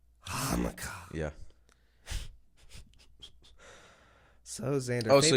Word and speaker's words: Hanukkah: So Hanukkah. That's how it's pronounced. Hanukkah.